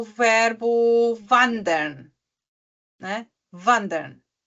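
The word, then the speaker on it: wandern: o verbo vand né Vander Vander não é Vander Vander porque tem mais do que uma consoante depois dela Vander né w a n d e r n vandera por exemplo eh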